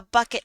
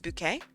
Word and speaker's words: Bucket: A bucket. Thank you. It's actually pronounced bouquet.